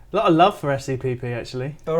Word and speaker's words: SEPP: All right, SEPP. Lots of people giving you love. Okay, so your time starts in 5, All right. Okay. 4, 3, 2, 1. All right. Well, first and foremost, it's pronounced SEP.